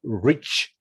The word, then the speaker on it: reach: It's not leech, but reach. Reach with an R.